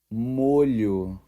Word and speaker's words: molho: for you let's say it one more time muu you've got it if you have any other